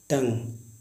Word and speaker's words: tongue: Guys जब कभी शब्द के अंत में GUE या UE आए तो इसमें यू साइलेंट होता है। जैसे लिखा होता है टंग, TONGUE, टंग, टंग का अर्थ जीव।